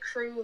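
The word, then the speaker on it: krewe: like the crew because we spell it crew like a crew at mardi gras or something k-r-e-w-e so yeah we love it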